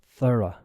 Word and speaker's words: thorough: I want you to say in your mind t h o r o u g h how do you think you pronounce this word meaning complete or exhaustive a